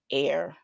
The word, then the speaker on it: Er: took a wife um of his oldest son air which is pronounced really I see the pronounce the correct